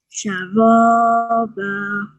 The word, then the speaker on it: شرابا: just need to remember is this ra. This will make a thick sound because there's a fatha on top. So sha, ra, ba. شرابا. Very good. So you make a round mouth for this one.